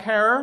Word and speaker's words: Herer: government denies it but jack herrera rhymes with tara he finds an original